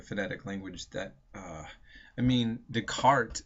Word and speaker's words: Descartes: language, that I mean, Descartes is spelled Descartes. Okay, you wouldn't know it's Descartes by just seeing it.